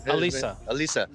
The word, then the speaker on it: Alisa: Alisa.